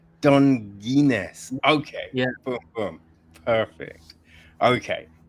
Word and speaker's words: Donguines: It's pronounced Dongginess. Dongin. Okay. Boom. Boom. Perfect. Okay. Donginz and Jacob Crawford to talk about their new film, Treasure.